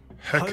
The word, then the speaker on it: Hecate: Hecate. Home of the Chinese chomping cabbage. That's how you pronounce her name.